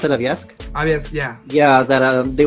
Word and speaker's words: Yovska: I'm so sad that YOVSKA, is that how I pronounce it? YOVSKA?